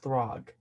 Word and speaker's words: Throg: I say Throg. It's Throg.